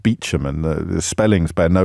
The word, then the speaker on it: Beauchamp: It's why they words like Beauchamp pronounced Beecham, and the spellings bear no resemblance whatsoever to pronunciations.